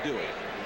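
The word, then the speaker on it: Duhe: It used to be Dway. Just D. Yeah. Apparently though, the Cajun pronunciation is Dway.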